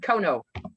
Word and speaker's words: Konow: it is spelled there. It is Kono, right?